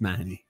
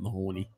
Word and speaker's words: Mahoney: It's Mahoney. It's not Mahoney.